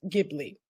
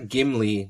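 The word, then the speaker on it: Ghibli: perfect all right for the record it is pronounced gibli yes it is GI Okay g it is GI not gimly not the dwarf no not the dwarf G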